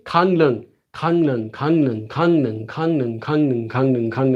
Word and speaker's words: 강릉: 강릉, 강릉. And you can make this again for yourself. If you don't know this, you forget this, try to say 강릉, 강릉, 강릉, 강릉, 강릉, 강릉, 강릉, 강릉, 강릉, 강릉, 강릉, 강릉, 강릉.